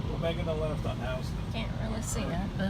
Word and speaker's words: Houston: It's the name of a guy named Mr. Houston, and that's how he pronounced it. It was spelled Houston.